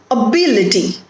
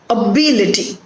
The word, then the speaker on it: ability: Ability. So the stress is on B. Ability.